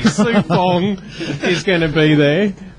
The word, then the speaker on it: Sue-Fong: Foo Song's, of course, going to be there. Foo Songs, I've said it wrong already. Sue-Fong is going to be there.